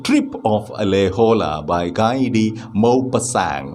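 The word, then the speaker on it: Maupassant: of alejola by gaidi mo pasang mopa sang is the pronunciation he is a french man and that is pronunciation of his name mo pasang okay on the morning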